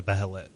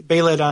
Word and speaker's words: Behelit: But Vargas has a Behelit. Am I pronouncing that right? I say like Behelit. Behelit? Okay. They say Behelit on both the animated forms I've seen.